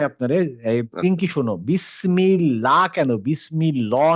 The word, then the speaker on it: বিসমিল্লাহ: বলতো পিংকি বলো আল্লাহ শব্দের ভিতরে তো আমি বলছিলাম লাম টা হচ্ছে হেভি তাহলে বিসমিল্লাহ কেন হলো না বিসমিল্লাহ কেন হলো কারণ হচ্ছে জের জেরের কারণে কোথায় এখানে তো বিসমিল্লাহ মিম হ্যাঁ মিমে মিমে কাসরা আছে এইজন্য বিসমিল্লাহ হ্যাঁ এইজন্য কিন্তু যখন আমরা